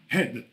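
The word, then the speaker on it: עד: Encore une fois en hébreu, comment on dit un témoin, on dit head en français e et et et et un d. En hébreu, ça s'écrit avec un aï et un dalet.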